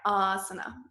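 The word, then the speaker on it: āsana: Asana right so but remember to lengthen that that first ah just a little yeah Asana Asana right so I know when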